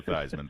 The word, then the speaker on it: Theismann: the legend the man it rhymes with Heisman he's Joe thyman thanks Joe thanks byebye and